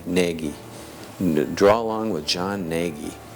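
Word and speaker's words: Gnagy: Naggie. It was pronounc It was spelled G N A G Y. Naggie.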